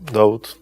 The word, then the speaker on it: Daud: it was David just I changed the pronunciation David to doubt David and doubt is the same person yeah right so for